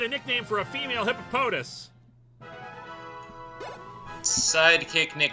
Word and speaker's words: Hippopotas: Gojira, it's pronounced pronounced hippopotas.